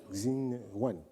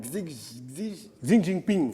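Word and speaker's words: 习近平: Xi Wan. Non, Xi Jinping.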